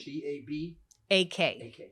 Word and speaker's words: Tabak: His name is Lawrence Tabak, if I'm pronouncing it correctly. T-A-B-A-K.